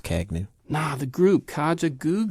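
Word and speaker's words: Kajagoogoo: their sound so like catch a goo goo catch a goo goo no it's pronounced kagnu nah the group kaja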